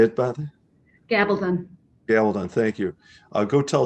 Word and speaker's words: Gabaldon: So I'm new to this series, the Outlander series, but Diana Gabaldon, I'm sure I'm butchering that name. Do you know how to say it, Beth? Gabaldon.